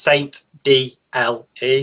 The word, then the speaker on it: aSaintDLE: So it's pronounced Saint D-L-E, so the D, the L, and the E kind of make up from my first and surname.